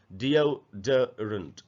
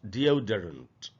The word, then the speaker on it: deodorant: इसको अक्सर हम लोग डिओडरेंट ऐसे पढ़ लेते हैं, इसका जो करेक्ट प्रोनाउंसिएशन है वो है डिओडरेंट, डिओडरेंट, डिओडरेंट ऐसे पढ़ेंगे इसको।